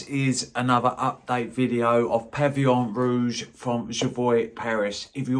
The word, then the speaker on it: Pavillon Rouge: this at Christmas and I thought it was pronounced Pavilion Rouge it isn't it's pronounced pavon Rouge so I do apologize that I didn't pronounce